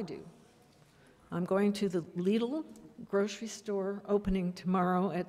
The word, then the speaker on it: Lidl: Is that how you say that? Lidl? Lidl. Yes, it rhymes with needle.